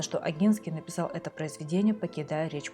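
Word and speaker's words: Ogiński: Кроме того, по-польски фамилия правильно читается как Агинский с мягким знаком.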